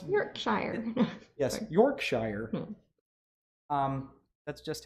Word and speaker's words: Yorkshire: made out of I love how you are pronouncing Yorkshire properly I go I just you know it's Yorkshire yes Yorkshire um that's just how I've learned